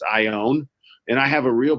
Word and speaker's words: Ioane: mind when people say my last name wrong it's Samoan it's I own and I have a